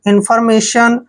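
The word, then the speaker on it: information: में करते हैं और टी आई ओ एन का उच्चारण हम हमेशा सन करते हैं मेशन इन फॉर्मेशन ठीक है ना इंफॉर्मेशन इंफॉर्मेशन होता है जानकारी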